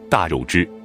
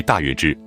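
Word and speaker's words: 大月氏: 课文中，都将大月支读为大肉支。但据近年来的考证，这个读音是错误的，新版的辞海已经将读音纠正为大月支。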